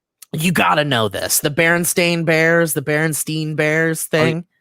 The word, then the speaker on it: Berenstain: of us remember that they were called the berenstein bears not the berenstain bears but if you look it is berenstain bears and it's like okay so maybe we were just always not pronouncing it correctly uh but but falling